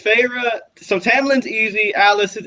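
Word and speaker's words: Feyre: never say her yeah it's so it's farra and apparently Ryan is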